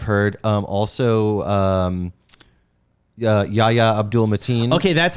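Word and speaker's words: Yahya Abdul-Mateen: that's what i've heard um also um uh yaya abdul mateen okay that's how you say his name he's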